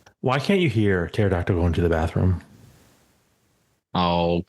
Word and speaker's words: pterodactyl: Why can't you hear pterodactyl going to the bathroom? Oh, come on. Do you really want to go with that one? The P is silent.